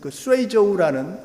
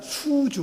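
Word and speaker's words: 隨州: 그 묘가 바로 후베이성 아까 우한 지역에서 멀지 않은 후베이성에 있는 쇠이저우라는 수주, 우리 한국 발음은 수주입니다만은 쇠이저우 시에서 발굴된 증후을묘라는 게, 이게 1979년인가 발굴이 됐을 텐데, 증후는 뭐냐면 증나라 이름입니다.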